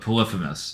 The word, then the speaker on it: Polyphemus: Oh, Polyphemus, Polyphemus is the name of the Cyclops.